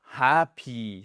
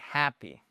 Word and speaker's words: happy: So c'est pas happy, c'est happy. Alri, votre première syllabe, elle est sur ces quatre premières lettres. Passe sur simplement le H et le A. Et on fait bien le H.